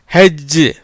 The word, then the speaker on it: hedge: இதுலேயும் அதே மாதிரி என்னது HEDGE, இதில் என்னது HE, ஹே, டிக்கு உச்சரிப்பு கிடையாது. ஜிக்கு வந்து இஜ். எப்படி வருது? ஹெஜ்.